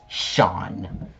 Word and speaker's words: Seam: The name is Seam. Pronounced Sean.